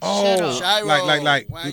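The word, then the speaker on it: Shiro: s spell it again s h i r o like pyro but shro like sh no it's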